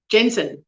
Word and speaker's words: Jensen: A hard J, gender, Jensen, Jensen.